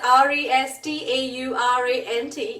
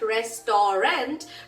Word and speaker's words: restaurant: Come on, restaurant is a great example. It's written as restaurant. It's not restaurant, but you pronounce it as restaurant.